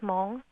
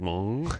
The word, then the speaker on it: Hmong: Yeah, because my nationality is Hmong. Yours is Hmong. Hmong. Hmong. It's a rare Asian. You're like a Hmonganite? Hmong. That's my nationality. How do you spell that? It's with a silent H, M-O-N-G.